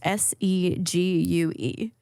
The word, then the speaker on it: segue: is how do you uh how do you pronounce s-e-g-u-e what s e g u e that's not